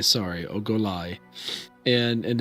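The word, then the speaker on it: Ogolai: my notes no no it will go with ogallala sorry oh goliath and and it's spelled o-g-o-l-a-i lie okay and and she is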